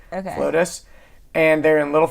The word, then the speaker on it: Flotus: That's it's this place, for those of you who are listening and you live in Atlanta, it's called Flotus. It's spelled FLO2S. FLO2, like the number 2S. Okay. Flotus.